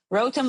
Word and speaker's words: Rotem: It's hard to pronounce because of the R at the beginning.